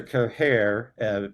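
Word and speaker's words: Cahir: Um, in Sir Care, I just pronounce care because it's easier to not sound like I'm hacking up a hairball.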